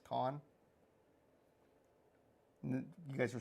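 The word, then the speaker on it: Cannes: Like the French would be C-A-N-N-E-S, cans, con.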